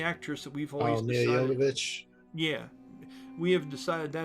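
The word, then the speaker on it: Milla Jovovich: to pronounce her name perfectly, but it's like Mia de Jordovich. Is that right? From The Fifth Element? That is the actress that we've always decided. Mia Jovovich.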